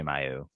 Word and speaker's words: Mailloux: Just say Mayu.